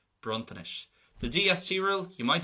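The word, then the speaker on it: bronntanais: The second version, it's going to be soft, bruntanish.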